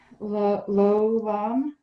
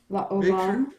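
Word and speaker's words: לעולם: Lolam. La Olam. Make sure you're doing 3 syllables there.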